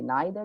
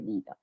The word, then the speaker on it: neither: So both are correct. You can say either, you can say either, you can say neither, you can say neither.